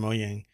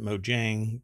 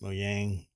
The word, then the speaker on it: Mojang: i guess it's from moyang and yeah that's how it's pronounced apparently um a lot of people pronounce it mojang but it's not mojang it's mo yang i don't necessarily think